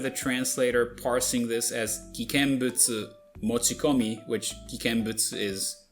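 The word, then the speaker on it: 危険物: Actually it does because well, even though the translation is correct, the pronunciation isn't cuz it says kiken mono and supposed to be kikenbutsu.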